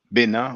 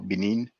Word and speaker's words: Benin: the University of Abomey in the Republic of Benin or Benin, depends on your pronunciation.